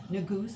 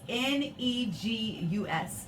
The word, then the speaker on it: Negus: Yes, Negus, Negus, and some people might say Negus. It's how you would like to pronounce the U. Is it a high back vowel or is it a mid-central vowel?